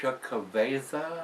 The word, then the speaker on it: Xocoveza: So if you've had this one, they're Xocoveza. That's how it's pronounced.